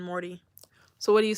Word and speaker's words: Morty: uux huh your accent you say Morty we British people wouldn't pronounce a T and Morty so what do you say Mauri Mauri as an MA